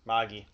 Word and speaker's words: Magi: That's how it's Okay, pronounced. Magi.